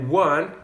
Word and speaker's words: one: que eu usei né one começa com o que é uma vogal mas o som é muito parecido com o de um w né olha só por exemplo wendel e one windel one é praticamente o mesmo início então